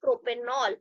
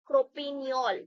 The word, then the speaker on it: propanol: The reason behind is because when two vowels are together, they make the pronunciation difficult. So it is said that you have to remove this particular E while combining the both components. So the name will be propanol, not propineol.